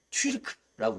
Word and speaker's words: 튀르크: 좀 원어를 살려서 읽으면 우리가 튀르크라고 읽을 수 있어요.